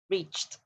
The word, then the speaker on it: reached: Okay, this is the same as dropped. It's actually with the t sound in the end. Reached, reached, okay, reached.